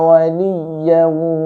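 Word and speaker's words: وَلِيًّا: Di sini dikasih tasdid ya-nya, ya, itu ditekan sedikit dengan kadar sewajarnya. Ya, tidak boleh terlalu tamtid, tidak boleh berlebihan juga. Seperti la yajiduna waliyan, seperti itu aja. Waliyan, ya, tengah lidah Anda menyentuh langit-langit atas. Waliyan, ya.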